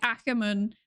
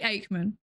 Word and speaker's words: Aikman: I keep saying, like, my gut instinct is to say Ackerman, but I think that's just. I studied German for a while. I think it's like weird Germanization of the pronunciation. They say Aikman.